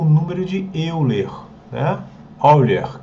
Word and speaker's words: Euler: número de Euler né erer que fala que ele é alemão tá eh então que a gente tem gente fala eer erer que é alemão a pronúncia alemão e ele é um